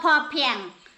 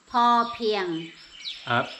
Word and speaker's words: Po Piang: Not Po Piang. Po Piang.